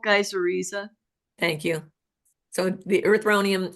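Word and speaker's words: Geissorhiza: And the South African, how you pronounce it again? Gizoria? Gizor? Yeah. Geyseriza. Geyseriza.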